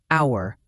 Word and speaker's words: hour: Hour, the H is silent.